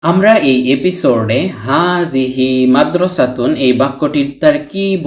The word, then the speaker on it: مدرسة: হারাকাতুন উচ্চারিত না হলে এই গুলতাটি বাংলার হ বর্ণের উচ্চারণ দেয়। তাই মাদ্রাসা উচ্চারণ করেছি।